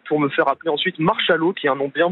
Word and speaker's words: Marchalot: Non, c'est M-A-R-C-H-A-, tout simplement. voilà, Marchalot. Marchalot de Bretagne. Comme un cachalot.